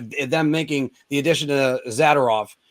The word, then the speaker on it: Zadorov: making the addition to Zadorov or Zadorov. I'm sorry, I put the wrong emphasis on the wrong syllable, but it's just one of those things.